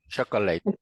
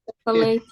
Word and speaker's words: chocolate: It's sweet, Chocolate. Chocolate. okay, but chocolate has 3 syllables. The correct one is chocolate. Chocolate, 2 syllables.